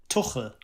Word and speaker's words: Tuchel: Yeah, it's Thomas Tuchel. Thomas Tuchel. Tuchel. Yeah. Tuchel. The Scousers will find it easier to pronounce.